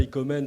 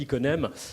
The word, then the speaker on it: Iconem: je me trompe hein j'ai pas arrêté de prononcer ça icomen toute la journée et voilà là je l'ai bien dit iconem et il vous fera